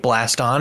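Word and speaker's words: Blaston: experience uh i think blast on is great rhymes with gaston for spelling thank you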